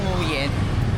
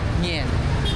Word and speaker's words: Nguyen: So yung ano pala yung n u y E n hindi siya nguyen ah. Narinig ko sa mga Vietnamese ang bigkas nila doon is ngen wala.